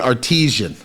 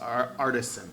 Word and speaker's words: artisan: I I've been saying artisian. Uh, a lot of people say that. It's actually pronounced artisan.